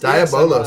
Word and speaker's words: Diabolos: Diabolos. Yes, I pronounce it like how Yoshi P pronounces it.